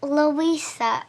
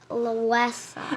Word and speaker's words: LUESA: It's pronounced LUESA, not LUESA.